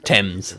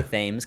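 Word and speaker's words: Thames: How do you even say that? Tames. Rivers. I would say ths cuz I'm American and uneducated, but I've definitely heard Americans say that before, but it is it is a reasonable uh blunder, I would say.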